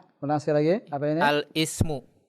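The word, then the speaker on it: الاسم: Al-ismu. Al-ismu. Yakin Al-is. begitu bacanya? Al-ismu. Ini hamzah wasal di tengah. Bagaimana bacanya? Al-ismu. Oh, al-ismu. La, jangan al. Alismu. Alismu. Alismu.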